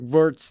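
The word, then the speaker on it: Merz: Friedrich Wirtz, the CDU leader. Look at you with the German pronunciation.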